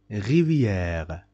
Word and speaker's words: rivière: Rivière. Rivière. Rivière. This is accent grave. Rivière. You must make the pronunciation of this A long.